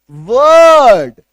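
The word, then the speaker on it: word: जैसे ये देखो डब्ल्यू ओ आर डी आर के बाद एक कंसोनेंट साउंड है तो इसका उच्चारण क्या होता है? वर्ड क्या बोलते हैं हम लोग? वर्ड अभी जैसे मैं वर्ड बोल रहा हूं।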